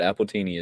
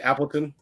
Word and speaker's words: Appleton: When I was there, you couldn't get that in the States now, but Appletini is like the Jamaican rum. You mean Appleton?